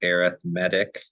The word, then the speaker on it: arithmetic: the first one is an arithmetic sequence it's pronounced arithmetic even though it looks like arithmetic it's an